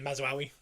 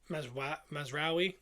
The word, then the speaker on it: Mazraoui: Validity and Mazraoui. Bruno kept laughing the way I said it. He said I'm saying it wrong. How does he say it? Mazraoui.